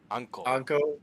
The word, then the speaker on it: Anko: Anko. A-N-K-O. Okay. Emphasis on the KO.